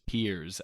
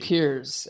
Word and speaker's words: Piers: Is something Peele, right? His name is Piers, actually. Piers.